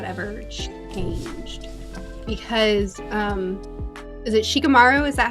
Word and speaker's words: Shikamaru: Because, is it Shikamaru?